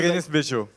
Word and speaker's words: Berenice Bejo: How do we pronounce the name of the actress? Beguenese, Bejo. Berenice. Yeah. Yeah, That was Berenice Bejo.